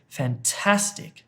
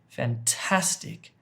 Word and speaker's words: fantastic: Well, it's fantastic, fantastic, fantastic. You hit the middle of the word with the emphasis, with stress.